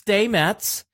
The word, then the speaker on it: Stamets: I'm terrible pronouncing names. By the way, as I learned this week, it's Stamets.